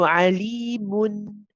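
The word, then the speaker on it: عليمٌ: And this noon that you do pronounce at the end is tawassut. It's the one which is not too long, not too short. So alimun, mun, mun.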